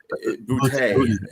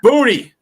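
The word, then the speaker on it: Boutte: I like how And I like how you pronounced uh his name there. Bouty. Booty. It's Booty. I have a hard time with booty. Did I say bouty again?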